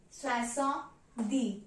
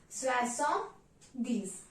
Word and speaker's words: soixante-dix: Now, 70 is pronounced as soixante-dix, means 60 and 10. Soixante-dix, 60, 10. So 60 plus 10, that is 70. So therefore, the pronunciation of 70 in French is soixante-dix.